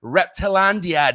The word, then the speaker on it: Reptilandia: We are live and direct from Johnson City, Reptilandia.